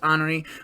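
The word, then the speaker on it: Honoré: with honoree right to hurricane honore some people pronounce it henry i'm pretty sure it's honoree whatever you get the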